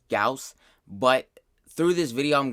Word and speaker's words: Gauss: for this video i know his name is pronounced gauss but through this video i'm going to be pronouncing his name goss because it's so much easier and i don't